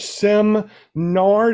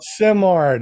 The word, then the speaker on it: Simard: It's not Simard. Yeah, there you go. Simard.